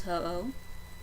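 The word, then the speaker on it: Ho-Oh: for those non-pokemon people his name is hoo it's spelled h o Das o h ho oh he's a bird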